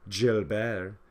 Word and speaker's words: Gilbert: nerdy, pimple-faced French tutor Gilbert, or, as it's pronounced in French, Gilbert, I victoriously passed French, with a C-.